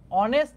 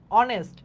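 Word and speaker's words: honest: আছে এখানে দুইটা হবে রামু ইজ অনেস্ট এখানে অনেস্ট যে ওয়ার্ডটা আছে একটা নাউন বলা যেতে পারে অনেস্ট এটার উচ্চারণটা কিরকম এইচটা একটু উচ্চ এইচ এর উচ্চারণ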